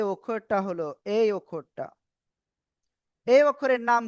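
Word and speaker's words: ح: ওকে তো দেখেন এরপরে আমরা যে অক্ষরটা এখন শিখবো সে অক্ষরটা হলো এই অক্ষরটা। এই অক্ষরের নাম কি? গলার শুরু থেকে এই অক্ষরটা উচ্চারণ হবে।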